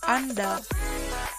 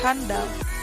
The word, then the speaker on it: andal: Pelafalan kata andal seharusnya tidak ditambah h, seharusnya andal, bukan handal.